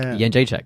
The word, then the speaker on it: Jędrzejczyk: Yeah, the Kentish Town Forum, which is why I knew how to say her name before anyone in the UFC was like, how do we say it? I'm like, Jędrzejczyk, because I asked her like a month ago.